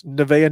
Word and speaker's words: Nevaeh: not one, but two people that are named Nevaeh, which is heaven backwards. They're kids, but their parents named them that, Nevaeh. So that's how you pronounce this, Nevaeh Ni Icalpa.